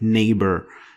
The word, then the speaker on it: neighbor: It was basically changed to F or nothing, like neighbor. It doesn't. You don't pronounce the GH.